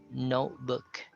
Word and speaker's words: notebook: So notebook. I did not pronounce the T there, even though it's in the middle of the word.